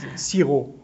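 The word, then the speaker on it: xi-rô: Siro. Uh-huh. Okay, sounds very close. Siro. Like in Vietnamese, you don't pronounce the P.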